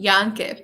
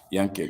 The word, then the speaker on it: Jahncke: We're talking with Alexis Jahncke. Did I say it right? Did I say it right? You said Alexis. Jahncke, but close. Yeah, Jahncke.